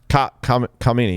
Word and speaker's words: Khamenei: leader of Iran, Ali Khamenei. Khamenei, yeah, that's how you say it.